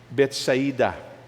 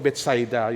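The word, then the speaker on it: Bethsaida: So Jesus heals a blind man at Betsaida. No nung unang pronunciation ko to Betsaida. Yun pala tamang pronunciation nito Betsaida.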